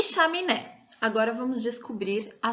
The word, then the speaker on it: chaminé: E a última é chaminé, chaminé. O né é a sílaba mais forte dessa palavra.